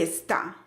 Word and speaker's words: está: Esta frase la escribí a propósito para que notes la diferencia entre esta y está.